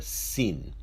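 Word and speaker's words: שׂ: pronounced as a sure when the Xin has a dash or a dot on the left side of the letter it is pronounced as a sir or a sin and the last letter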